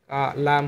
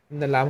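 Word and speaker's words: لام: দাঁত আছে, এই যে এই দাঁতগুলোর গোড়ার সঙ্গে লাগিয়ে এই লাম মানে সামনের দুইটা দাঁত বাদে তার ডানের দাঁত দাঁতের এই গোড়ার সঙ্গে এইগুলোর সাথে লাগিয়ে লাম হরফটি উচ্চারণ করবেন।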